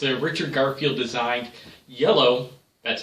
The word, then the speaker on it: IELLO: It's a Richard Garfield designed iello, that's how it's pronounced, iello, not the jello, but iello.